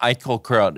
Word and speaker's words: Eichelkraut: right um so we are here with Cara iut is that how I pronounced your last name yep I've heard many